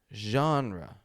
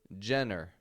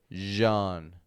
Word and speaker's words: genre: Now, of course, maybe you've pronounced this Jenner. I hear that often. Jenner, we don't want to say Jenner or anything like that, but genre.